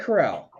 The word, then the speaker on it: Corral: i'm calling that rally i've always said corral it's golden corral let's listen to a podcast where they said coral the entire time and i'm like it